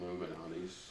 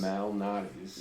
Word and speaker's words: Malnati's: It's a heck of a lot thicker than Illuminati's. Yes. Illuminati's. Illuminati's. Not Illuminati's. It's Lou. Illuminati's. Malnati's.